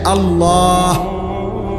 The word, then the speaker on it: আল্লাহ: উচ্চারণ হইতে হবে শেষে আল্লাহ শেষে একটা গোল হা আছে ছোট হা আল্লাহ মানে আল্লাহু তো